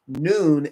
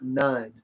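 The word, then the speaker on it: Nun: So sometimes you will see that this one can be pronounced as noon or none. He has the English name that sounds similar to it as new. So clearly he's saying it is pronounced noon and not none.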